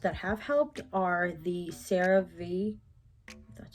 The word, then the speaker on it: CeraVe: Other products that I've used that have helped are the Cerave, that's how you pronounce it.